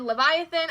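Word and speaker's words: Levithan: grayson will grayson by John Green and David Leviathan I thing cuz that's how you pronounce his last name um I have no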